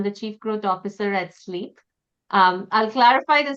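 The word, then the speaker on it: Sliip: My name is and I'm the chief growth officer at sleep. Um I'll clarify the spelling. It's spelled S L I I P but pronounced sleep.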